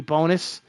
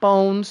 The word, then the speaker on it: Bonis: They bring in Ricky Bonis. Ricky Bonis. Not Bones. I used to call him Bones because I didn't know how to say his name.